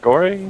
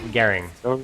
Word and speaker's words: Garing: Goring? Nope, Garing.